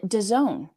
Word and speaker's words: DAZN: which you can watch for free on Done. Want to know how to spell it?